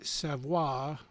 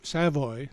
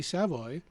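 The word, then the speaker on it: Savoie: theater of the mine singer Gary savvo pronounced sa Savoy sorry Gary Savoy um who sounded an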